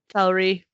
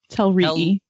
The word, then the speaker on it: Telrii: Telrai. Telrii. Telrai. Telrai. Don't no diphthongs. I hate double I pronunciation so much.